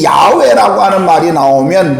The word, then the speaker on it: 야훼: 이 마지막 단어의 회는 원래 시브리어의 마지막 회는 묵음입니다.